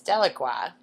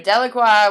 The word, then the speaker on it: Delacroix: couple of them uh my personal favorite is delaqua spelled d l a c r o i